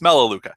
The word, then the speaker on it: Melaleuca: I can't even pronounce the second part of that. It's Melaleuca, and that's how it's also commonly known as.